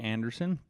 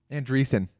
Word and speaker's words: Andreessen: I've got a read up here from Mark Anderson. Andreessen. That's how you say it.